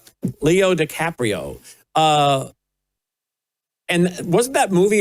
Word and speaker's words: Leo DiCaprio: That was the movie called One Battle After and that was starring Leo DiCapanio. DiCaprio Leo DiCaprio. Is that how you say his name? Leo DiCaprio.